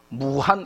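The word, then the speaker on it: 武汉: 자 호북성 에 있는 도시가 무한 인데 한자 로는 무한 인데 중국 발음이 우 아닌겁니다 그러니까 이게 무 1인 지우 아닌지 헷갈리는 분들은 같은 말입니다 한자 로는 무한히 고 어 그리고 어 중국 발음으로 는 우한 인데요 이 우화는 중국 전체를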